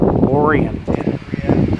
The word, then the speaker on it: Orion: I guess uh in Michigan they pronounce it as uh Orian. Like when we go to the Culver's I say that we're going to Lake Orion, but Michiganers say they Lake Orian.